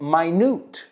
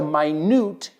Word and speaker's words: minute: Me recuerda a la palabra minute, minuto, and minute, muy pequeñito. Se escriben igual. Pero del contexto vas a saber si estás hablando de un adjetivo solo por dónde cae en la frase. It's a minute decision.